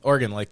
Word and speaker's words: Oregon: It's Oregon, right? Oregon, like an organ.